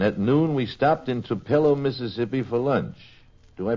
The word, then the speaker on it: Tupelo: And at noon, we stopped in Tupello, Mississippi for lunch. Do I pronounce that correctly, Janette? Is it Tupelo? Tupelo. Tupelo.